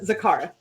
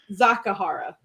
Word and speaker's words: Zakahara: yeah yeah zapara uh zakara how about ah okay yeah yeah no you got it hold on hold on let me correct myself because i pronounced incorrectly i missed an a it's uh zakahara and zaharial sun